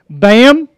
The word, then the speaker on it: BACM: BAM. Bam. The C is silent, so make sure you guys know that.